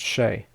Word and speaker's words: Che: del toro starring in is it shay i think it's pronounced shay uh normally i'd only